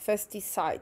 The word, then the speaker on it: FestiSite: FestiSite, tak to się to wymawia.